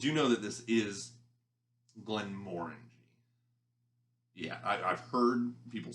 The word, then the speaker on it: Glenmorangie: of whiskeys did you know that this is glenmorangie yeah i've heard people say the name of it i don't know my brain doesn't always compute straight out when i'm just pronouncing it so it is glenn moringe if you're interested that way you can sound